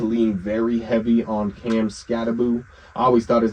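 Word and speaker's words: Skattebo: I told my boy like, "Yo, why the was this guy calling him Scataboo?" He's like, "It's how you say his name." I was like, "Whatever. Whatever. Cam Scatbo, man.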